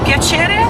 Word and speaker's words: piacere: Piacere.